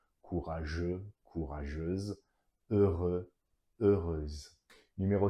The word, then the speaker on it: heureuse: So the E-U-X ending in the masculine will change into euse, E-U-S-E, pronounced as euse. Courageux, courageuse, heureux, heureuse.